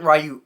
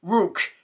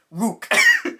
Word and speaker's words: Ryuk: I'm slightly wrong Luke it wasn't ryuk because I pronounced it as ryuk before in like the Weekly News Recaps and that was wrong it wasn't right it was like wook because that's how they said it in the show they didn't print out